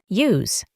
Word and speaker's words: use: Para pronunciar esta palabra, intentamos poner una i adelante de u, iu. Al final añadimos una z, use.